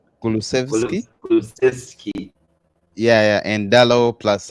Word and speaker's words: Kulusevski: Yeah, how do you pronounce the name? Kulusevski? Kulusevski.